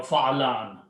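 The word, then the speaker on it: فعلان: So, and we pronounce fa, la, nun, or fa'alan.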